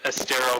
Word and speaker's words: Estero: I can only imagine it was a lot of fun all the way down in Estero, Florida. And am I pronouncing it right?